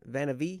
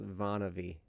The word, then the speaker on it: MonaVie: 17th i'm so sorry it's actually pronounced vonnavy oh is it monavie